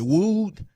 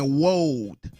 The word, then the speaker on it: wooed: I think we had a big argument up here about the word, was it wooed? And somebody up here kept saying woed.